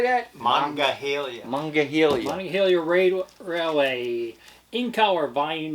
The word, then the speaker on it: Monongahela: Monongahela. How do you say that? Monongahela.